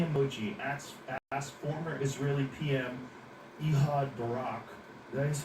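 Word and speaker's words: Ehud Barak: You know, Epstein with a smiley emoji asks former Israeli PM Ehad Barack, that is how you say his name.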